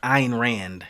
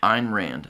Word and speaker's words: Ayn Rand: Is that I think it's pronounced Ayn Rand. Ayn Rand, okay.